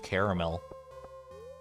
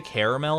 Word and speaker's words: caramel: yeah dude are you are you a two-syllable or a three-syllable I guess would be